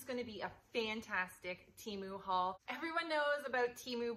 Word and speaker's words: Temu: Temu has told me it is actually pronounced tea as in a cup of tea and moo as in moo cow, so Temu.